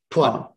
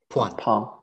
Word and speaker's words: Phuan: Phuan. It's okay. Like a P, the H is silent. Phuan. Phuan, yeah. Okay. You just think of Spanish Juan.